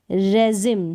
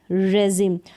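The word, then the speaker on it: regime: Next जो नियम है उसको देखें कि आई का उच्चारण ई यानी बड़ी ई के रूप में बहुत कम शब्दों में होता है, बहुत कम स्पेलिंग्स होती है जहाँ पर आई का उच्चारण हम बड़ी ई के रूप में करते हैं। जैसे कि यहाँ सबमरीन, यहाँ पर है कसिनो, और ये है रेजिम।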